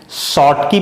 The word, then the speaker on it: Schottky: शॉर्टकी पढ़ते हैं उसको, CH साइलेंट लेके चलते हैं हम लोग, शॉर्टकी डिफेक्ट, और उधर हुआ फ्रेंकेल डिफेक्ट।